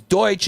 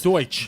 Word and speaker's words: Deutsch: So, that's funny because Deutsch is how you say German in German.